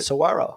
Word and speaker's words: Saguaro: of the Saguaro desert like pronouncing that or is there a g in there no you do squirrel you did it Saguaro okay see look at